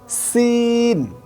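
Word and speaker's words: سين: অর্থাৎ সিনটা উচ্চারণ হবে সি, সি, সিন, ঠিক এভাবে।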